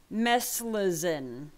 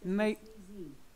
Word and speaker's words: meclizine: This is called Meslizin. Alexa, how do you pronounce this word? Meclizine.